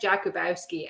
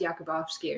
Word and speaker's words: Jakubowski: name wrong but it's franz jakubowski i'm sure it's pronounced yakubovsky or something but it's called ideologue